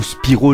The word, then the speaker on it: Spyro: un magnifique speedrun sur Spyro the dragon ou Spiro le dragon prononcé à la française alors j'imagine qu'on ne